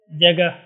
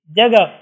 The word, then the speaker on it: جگہ: یہاں پر موجود ہیں، جگہ، واسطہ، ارادہ۔ تو ان مثالوں میں آپ دیکھ سکتے ہیں، ان مثالوں میں ہا پڑھی نہیں جاتی، صرف لکھی جاتی ہے۔ جگہ، تو یہاں پر تلفظ